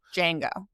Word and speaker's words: Django: And you get the second in command, uh, Django. Django, the D is silent.